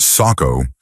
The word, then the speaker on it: Sacco: I've worked in construction my whole life, but about 10 years ago I met a guy named Sacco, pronounced Sacco, not sure how it's spelled.